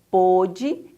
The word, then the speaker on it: pôde: doíam tanto que não pôde em direitar se essa palavrinha com acento circunflexo ela é pronunciada um pouquinho mais fechada a definição diz que